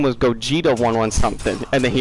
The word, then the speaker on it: Gogeta: Go Get is my favorite mispronunciation. It's up there with Go Gash. Hey, At least I said Gogeta.